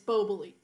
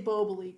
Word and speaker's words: Boboli: new york it's buboli if you're in napa it's boboli yeah so boboli is what it was in in massachusetts growing up and then i heard it different when i moved to stockton so how do you say it i say bobally because i'm california in california but if i go to